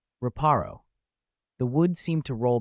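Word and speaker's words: Reparo: Raparro.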